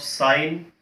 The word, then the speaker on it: sine: While we are writing, we will write as the short forms, but always the pronunciation should be in terms of sine, cos, tan, cot, secant and cosecant.